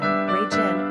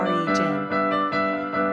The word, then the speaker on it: Reagan: Pronunciation, Regan or RE-gin.